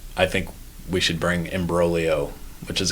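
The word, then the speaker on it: imbroglio: think we should bring embolio which is a great Italian word with a silent G which is just to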